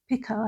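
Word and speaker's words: pica: Um some people do pronounce it pika I think but pah is p i c a.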